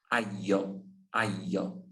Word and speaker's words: aglio: En el caso de la palabra ajo, se pronuncia la G o se dice solo al. Aglio, aglio. Ah, Non è ajo, ajo en español.